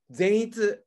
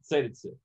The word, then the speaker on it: Zenitsu: How do you pronounce it? Zenitsu? Zenitsu. Zenitsu.